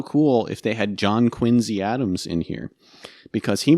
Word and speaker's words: Quincy: uh another weird pronunciation it's quincy not quincy yeah john quincy yeah yeah just like the town you know so interesting